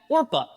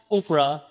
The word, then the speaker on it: Orpah: on her birth certificate is in fact Orpah. But what happened was that as she was growing up, people kept misreading, misspelling, and mis- mispronouncing it as Oprah until eventually it stuck and Oprah she became.